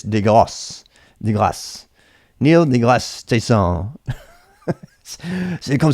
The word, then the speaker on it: deGrasse: If it's French, it's deGrasse.